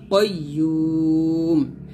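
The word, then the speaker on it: قيوم: এখানে আমরা অনেকে বলি কাইয়ুম বলি, দেখুন বাংলা যদিও কাইয়ুমই লেখা আছে তবে উচ্চারণ হবে কাইয়্যুম। ইউতে 3 টান দিয়ে মিমকে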